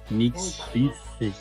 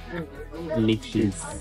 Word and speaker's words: Nikšić: I always have to look at the way it's spelled. Nikšić. No, Nikšić.